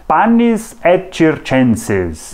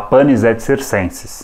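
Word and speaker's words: panem et circenses: ou pão e jogos a pronúncia em latim sabe como é que é panis enses mas tudo bem se a gente falar panis ET circenses aliás às vezes aparece grafado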